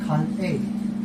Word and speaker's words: Kanei: Well, actually, the pronunciation is Kan A. Kane. But Oh, Kan A. you see, yeah, Kan A, the K-A-N, Ah, and yeah. the E-I. Oh, Kan A. Kane. Yeah. No. No? The real pronunciation is Kan A. You have to separate the K-A-N with the E-I.